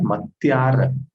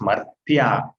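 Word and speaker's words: मर्त्य: It's not Matyar, it's Martya. Martyanamahani ube. Matyarnamahani ube. No. It is not Matyar. It is Martya. Mar. The repa is after ma, not after ya.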